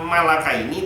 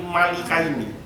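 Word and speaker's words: الْمَلِكَيْنِ: mafia wama unzila awal maka bacanya bukan Malaka ini tapi Malika ini artinya dan tidak lagi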